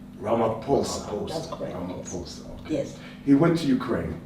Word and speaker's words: Ramaphosa: did I say it right no you don't pronounce that okay it's so it's ramaphosa ramaphosa yes he went to Ukraine in another president